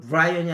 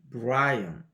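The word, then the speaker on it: Brian: 발음을 잘 하셔야 되는데 이 브라이언이 야 이거는 브라이언이 아니고 브라인 약간 이게 떨어지죠 you vi 언디핏 파마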